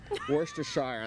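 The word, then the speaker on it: Worcestershire: to take some wor you know how to say this properly wor worest Worster Shire Worster Shire that's it we're going to do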